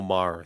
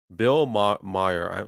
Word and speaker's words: Maher: interview with him and what's his name, Bill Maher. I think that's how you say it. Meyer. I'm gonna say Meyer just to make it easy. Bill Meyer has been for years